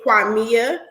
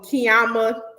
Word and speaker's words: Qimmah: from there basically i he pronounced it kwamiya um i was easily able to spell it because it's spelled the way you guys see it on the stream i was easy to be able to pronounce it even as a kid um even when as i got older high school elementary college jobs people wanted to call me kiama kwema kramer mia all the things under the sun which